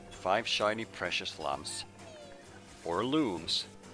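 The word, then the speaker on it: Lums: shiny precious lumps four looms which is supposedly the right way to pronounce it i'm gonna leave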